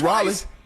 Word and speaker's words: Raleigh: I've been to Raleigh. He's talking about me. I've been to Raleigh. You mean Raleigh?